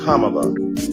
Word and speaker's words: Kamala: you call Melania Melania do you call Ivanka Ivanka then call Kamala Kamala then call vice president Harris vice president Kamala Harris and soon we pray